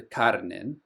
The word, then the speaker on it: Celduin: And then Vale of the Celduin, which is Redwater. Vale of the Celduin, which is river running. Also note that C is always pronounced as a hard C, kuh.